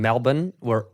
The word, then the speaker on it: Melbourne: my first time in Melbourne," and he's like, "It's Melbourne, mate." Yeah. No, it's not, because it's spelled Melbourne.